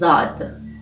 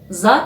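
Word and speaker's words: ضاد: like sad means hundred the eighteen letter is zod zat is pronounced z like zip in english and its form is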